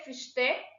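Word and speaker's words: Fichte: देखो, और एक नेचुरल स्कूल के जूरिस्ट थे फिश्ते, जोहान गॉटलिब फिश्ते, एक जर्मन नेम है, ठीक है, और ये जर्मन में ही प्रोनाउंस होगा।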